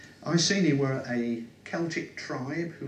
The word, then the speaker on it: Iceni: a moment okay so it's pronounced I see me I seen he were a celtic tribe